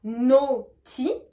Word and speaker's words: naughty: Donc je répète, on a naughty et nutty, d'accord? Donc là pareil, naughty, on va prononcer O, naughty, et nutty, on va prononcer E, U.